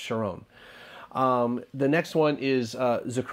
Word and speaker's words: Sharon: the sure own plane like why I said Sharon I really don't know because I do know that it's pronounced sharone the next one is Zac roan Yakov and